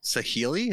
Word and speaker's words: Saheeli: Saheeli? Is that how you pronounce this? Mm-hmm. Yep.